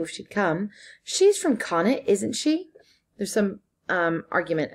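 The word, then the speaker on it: Connacht: she'd come she's from Cana isn't she there's some argument about how that's pronounced according to the Irish it's con it rhymes with bonnet according to the English it's cannot cannot rhymes with untaught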